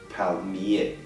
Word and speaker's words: palmier: Notice we do not pronounce the R at the end of palmier. It's a little bit like your E with an accent. Palmier.